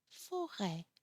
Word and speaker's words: forêt: So, écran, mer, forêt. It's even you have to open the mouth even more.